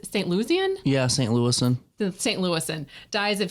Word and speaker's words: St. Louisan: Louis Globe Democrat that said St. Lucian? How do you say St. Lucian? Yeah, St. Louisan.